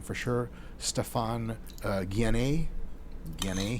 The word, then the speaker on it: Guyenet: name for sure, Stefan Guyenet, he says pronounced like DNA. I would just say Guyenet, because I'm American.